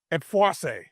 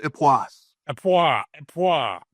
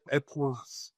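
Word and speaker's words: Époisses: pronouncing it right but epoas. Is that right? It's just epis with an s epas a serious wash brine cheese.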